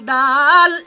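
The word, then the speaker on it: دال: জিহিবার অগ্রভাগ। জিহ্বা সামনের উপরের সামনের উপরের দুই দাঁতের ভিতর দিকের গোড়ার সাথে লাগিয়ে দুই দাঁতের ভিতর থেকে ঘোড়ার সাথে লাগিয়ে যার উচ্চারণ করতে হয় যার উচ্চারণ করতে হয় এর নাম দাল এর নাম দাল এর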